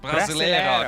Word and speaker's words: Brasileiro: I don't know how to pronounce it. Brasileiro. There we go.